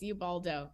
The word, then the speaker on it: Ubaldo: I pronounce that correctly? Yes, Ubaldo.